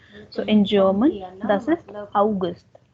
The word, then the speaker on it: August: german spelling is same for august but the pronunciation is different so in german this is august like we say september october november december now